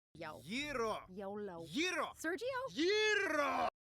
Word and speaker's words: gyro: It's pronounced gyro. Yeah, but in New York, we call them gyros.